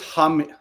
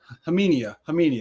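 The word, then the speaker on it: Khamenia: So it's like that's where my brain is, but pretty sure the K is silent for Nick.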